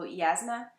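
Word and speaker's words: Jasnah: it's supposed to pronounce should be pronounced as a y so yazna she is one of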